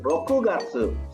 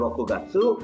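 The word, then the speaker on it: 六月: dari bulan Juni sampai bulan Agustus sedangkan kepala pengucapannya ada sebab ini rokugatsu shichigatsu hachigatsu Jun itu rokugatsu Juli itu si tidak tuh Agustus itu hachigatsu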